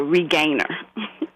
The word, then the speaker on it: Regainer: And she was Regainer. Almost like Regina, but Regainer.